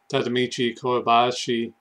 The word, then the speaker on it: Tadamichi Kuribayashi: it and I wanted to learn more about tadamichi kobashi that's how you say his name and uh